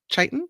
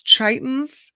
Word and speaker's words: chiton: This guy is called a chiton. Is that how you say it? I think it's chiton.